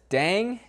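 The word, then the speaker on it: Đặng: Now, this is one where I really wish it sounded exactly as it's spelled, but unfortunately, if you want to say it correctly, it's just Dan.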